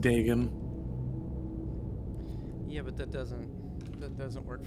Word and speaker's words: Dagon: You know, the Dagon on, Dagon on, It's pronounced Dagon.